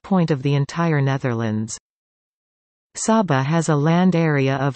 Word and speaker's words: Saba: Saba Dutch pronunciation Saba is a Caribbean island which is the smallest